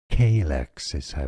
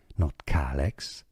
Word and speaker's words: calyx: Calyx is how it's said, 2 syllables, stress on the first one, not calyx, K.